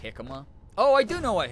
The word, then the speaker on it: jicama: It's pronounced jicama.